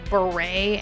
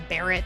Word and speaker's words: Barrett: in my last video so I pronounced it originally as Beret and people told me that it was Barrett so I apologize for